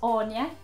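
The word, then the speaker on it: Áine: There are other names like Andrew, which could still be pronounced Andrew, but spelt like this. Anne becomes Anya.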